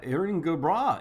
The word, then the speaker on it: Erin go bragh: Irish Erin go bragh.